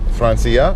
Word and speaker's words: Франция: It's Francia or France? Франция. Francia, okay. Francia. No, not Francia. Francia. Francia. Okay, got the first syllable accent.